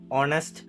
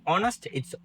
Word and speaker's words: honest: So we have hs like th honest and air අපිදී h අකුර pronounceේ නෑ. ඒවා ශබ්ද කරන්නේ නෑ. In these words we don't pronounce the h it is silent.